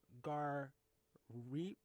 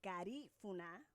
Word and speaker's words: Garifuna: us, because reading your bio, you reference yourself as a Garifuna? Garifuna. Garifuna. Garifuna. The accent is on the second syllable.